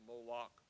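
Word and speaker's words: Molech: the ammonites ammonites had molek as one of their gods some of you will know that molex sometimes pronounced moloch was the god to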